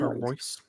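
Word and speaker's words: Reus: except lineups bellingham's playing royce is playing whatever is how you say his name marco royce that's it oh there's no oh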